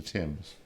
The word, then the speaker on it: Thames: the Thames what's it's the Thames river right the Tims I always say it wrong it's the River Thames um killer and it